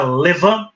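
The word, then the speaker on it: levain: então chamada Leví né fermento em francês que se pronuncia Levan ou saer Starter em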